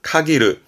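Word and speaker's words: 限る: 표현합니다 동사 많이 쓰지요 발음은 카이르 카이르 말 그대로 제한하다음 제한하다 의미해서 카이르 정말 폭넓게 씁니다 특히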